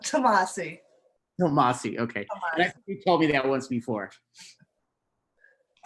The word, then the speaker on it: Tomasi: Okay, our next artist is Tomasai. Did I pronounce that correctly? If I didn't, I'm sorry if I put No, you did not. Tomasi.